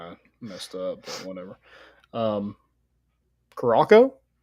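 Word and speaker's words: Curaçao: yeah that's kind of messed up whatever um karako I'm not saying that wrong hey how you spell it c-u-r-a-c-a-o cracko garoco spelled again c-u-r -a-c-a-o uh you're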